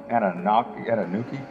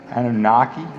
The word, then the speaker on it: Anunnaki: in the last video that big old uh ana nuki anunnaki anunnaki i gotta say it right gotta spell it right somebody told me one guy said